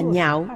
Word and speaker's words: lạc: Chữ lạc cũng có thể đọc là nhạo. Nó có hai âm đọc. Nó có hai cách đọc. Đọc là nhạo có nghĩa là yêu thích. Đọc là lạc có nghĩa là vui sướng.